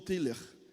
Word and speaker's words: Tillich: Aí fui lá e perguntei para o meu tio também, tio, como é que é a pronúncia? Paul Tiller.